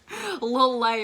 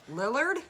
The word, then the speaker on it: Lillard: Lil Lay or whatever. Lillard?